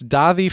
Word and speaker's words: Daði: It is, I think it's Daði Freyr is the way you pronounce that, I think. Is that letter after the A D? That's I think it's almost like a TH sound.